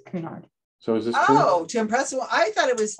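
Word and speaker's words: Cunard: that makes sense and she did pronounce it correctly it's kunard so is this oh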